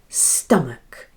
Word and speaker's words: stomach: And match sounds like muck, as in McDonald's. Because, yes, you guessed it, that naughty little schwa sound, for unstressed vowel sound, ah, and the ch sounds k. Listen again. Stomach.